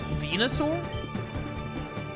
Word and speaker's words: Venusaur: Venusaur like the planet, I guess. Venus.